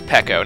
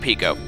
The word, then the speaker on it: Pecco: And yes, I believe that if that name is intended to be pronounced in the Japanese-ish or Japanese-ish sounds, it's Pecco, not Pico. If it was Pico, it would be an I. But no, it's an E, so eh.